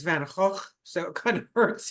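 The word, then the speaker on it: Van Gogh: that draws attention to Van Go. By the way, if you'd like to appear like an art historian or an artist, they pronounce his name in Dutch. So, it's Van Hawk.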